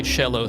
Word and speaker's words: cello: is it pronounced cello cello comes from the Italian sorry this is quora